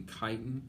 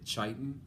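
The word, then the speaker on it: chitin: shell which is a basically kiten or k chiten however you want to pronounce it basically same thing it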